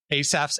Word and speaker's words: Asaph: Go check out their new album, which is Asaph's Arrows 2.